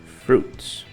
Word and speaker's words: fruits: R não tem problema fruits as frutas não pronuncie esse I Ok fruits E é só o